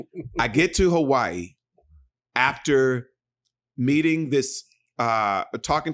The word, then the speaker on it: Hawaii: I went to Hawaii. And uh that's how they say it. Hawaii.